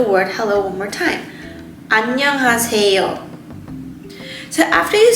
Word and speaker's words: 안녕하세요: So if you go to the 4th syllable in this word, 새 has 2 vowels, 어 and 이. So when we put the 어 and 이 together, it makes it sound 에.